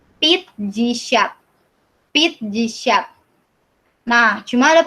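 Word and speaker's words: пятьдесят: 50 bukan piat jisyat ya bacanya, jadi pit jisyat.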